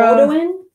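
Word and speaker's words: Beaudoin: Bowden? Spell it.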